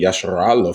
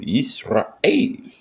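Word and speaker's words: ישראל: I don't get where they get Yasharala from because this is a glottal stop. This means there's a slight pause between the pronunciation of Ra and A.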